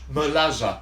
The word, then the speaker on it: merluza: So, and merluza is hake, it's spelled M-E-R-L-U-Z-A, pronounced merlaza.